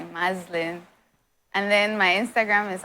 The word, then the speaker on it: Maslin: you see me on a street you say muslin and then my Instagram is also Muslim underscore